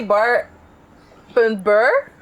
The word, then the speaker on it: Bar.ber: Is the name really Bar.ber? Because I would always say You just say barber. barber. You say barber, pero you spell it Bar.ber.